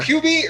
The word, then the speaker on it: Hubie: Am I pronouncing it right? You Is it are. Hubie or Hubie?